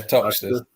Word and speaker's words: Toxteth: I'm not sure how that would be pronounced. Toxteth, I think. Toxteth. Yeah, Toxteth.